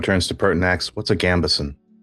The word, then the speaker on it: gambeson: But they do have some like, okay, and here's where the DM doesn't actually know whether it's Gambison or Gambison. Gambison. Gambison, thank you.